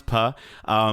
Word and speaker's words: Pugh: It's pronounced Puh. Is it Puh? Okay, Yeah. so I brought in Florence Puh.